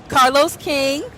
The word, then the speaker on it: Carlos King: King reality TV Kings Carlos King did I say that right yes you said it right yes okay okay period